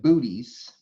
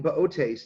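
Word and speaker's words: Boötes: The constellation, it looks like Bootes, B-O-O-T-E-S, but it's pronounced Bootes. He's a herdsman. Bootes. I think the second O has an umlaut.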